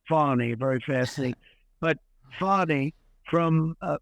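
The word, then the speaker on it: Fani: see where fatty and you're supposed to pronounce it fonny very fascina but FY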